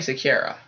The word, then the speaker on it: Secura: how to pronounce me it's very like Sakura Aayla Secura we're gonna go back it's mainly the first name I have trouble is Ayla yeah it's definitely Sakura it's Ayla it's the we